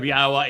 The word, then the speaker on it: Yahweh: The pronunciation of Yahwa is straightforward. It is irrefutable. The yod, the he and the wah are all um vowels. All of them.